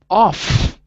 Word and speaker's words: off: is the like very off is clearly an f sound off like friendly or fun so that's the only